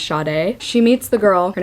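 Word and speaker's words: Sade: got to have the Audi book cuz it's pronounced shade she meets the girl her name's Elizabeth she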